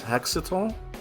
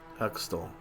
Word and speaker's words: Hextall: Taking, how the hell you pronounce this? Hexatol? Just call him Ron Hextall. Hextall.